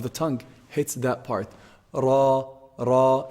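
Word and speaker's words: راء: Ra, ra.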